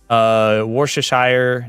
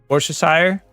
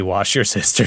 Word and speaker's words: Worcestershire: Worcestershire? Worcestershire. Sauerkraut. Thank you. Worcestershire. Worcestershire. I think my favorite, like, intentional mispronunciation, though, it's gotta be wash your sister sauce.